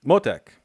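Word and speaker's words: מותק: Motek. It's just on the first syllable.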